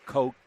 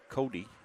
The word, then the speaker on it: Cote: Tells us that number 17 on the Orediggers is Cote, is how we pronounce it. Okay. Up here in Maine, that would be Cody.